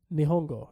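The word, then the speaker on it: 日本語: that's Japanese. You say Japanese. Nihongo, actually. Who you calling Nihongo? Nihongo. Nihongo. You gotta say it like that.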